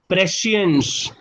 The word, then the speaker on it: prescience: The correct pronunciation is prescience.